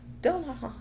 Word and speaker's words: Dullahan: hot hot in hint the anime kind of taught me how to say it and now you can barely say it dullahan the manga said that